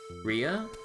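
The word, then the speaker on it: Reah: Re is it Rey or Rehea or I think it's just Rey, right? Ria.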